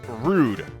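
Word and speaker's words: rood: up in a uh in dutch the color red is pronounced rude at least if i was pronounced in english i don't know if that's actually how you would say it but it's spelled r double o d so we're gonna name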